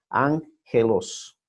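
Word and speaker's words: ἄγγελος: Y cuando están dos juntas, dos gamas juntas, se pronuncia NG, ángelos.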